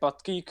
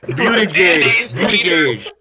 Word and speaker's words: Buttigieg: Wasn't it like Buttgeek or however you pronounce his name? Buttigieg.